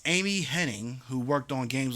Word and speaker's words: Hennig: Why can't I pronounce anything? It's Amy Hennig, who worked on games like Legacy of Kain and Uncharted.